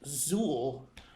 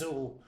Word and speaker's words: Xul: It's Zool, which is X-U umlaut. L. There's an umlaut There's an umlaut. over the U. Right. But I'm assured by their website that it's pronounced Zool and may, in fact,